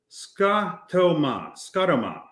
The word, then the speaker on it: scotoma: And he says, scotoma, pronounced scotoma, is the medical term for a visual field abnormality or a blind spot.